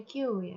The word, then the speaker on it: queue: Ini bacanya queue ya.